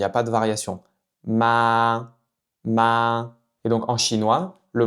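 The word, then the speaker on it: 妈妈: Donc en fait, c'est comme si vous prononciez le mot ma sans ton. Donc vous voyez, dans le mot maman en chinois, on va prononcer ça comme mama.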